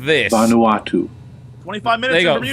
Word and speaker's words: Vanuatu: Bermuda, Bahama, This is maybe one of you can actually pronounce. It sounds mine. apparently like this. Vanuatu.